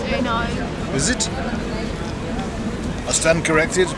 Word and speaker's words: Eno: It's pronounced Eno.